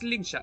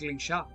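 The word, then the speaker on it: Lingsha: Dan Heng and Ling Sha. I'll need both of you to accompany me on this challenging journey. Ok, entonces no es Linsha, es Linsha. Chinese pronunciation.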